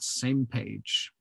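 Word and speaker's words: SMPAG: We pronounce that same page.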